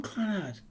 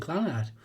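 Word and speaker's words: Clannad: First option means emphasis on the nad, and the second option would be emphasis on the cla or clan. It's difficult to type. I think we've got a rough idea anyway. But I've always called him Clanad.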